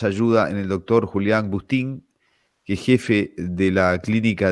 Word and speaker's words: Bustín: de acá para adelante cómo le va doctor agustín y no sé si estás bien produciendo su